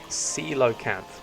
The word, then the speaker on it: coelacanth: Coelacanth, not whatever I was saying. Coelacanth. Okay. Actually, I have no idea where coelacanths might be, but they have a primordial feel to them, don't you think?